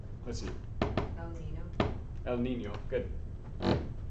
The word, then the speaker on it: niño: El Niño. Good. The N is Nia. El Niño.